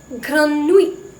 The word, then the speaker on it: grenouille: Fruit நானும் we pronounce it as fruit. Next comes J. J. Grenouille.